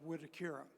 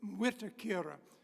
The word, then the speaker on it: Mwitikira: Village of wakira now people sometimes say how do you pronounce that word it's MWI T and you do pronounce the m is not silent but if you have a Southern accent like I do it's almost unpronouncable so it should be wura but to me it's just WHUR so in any event uh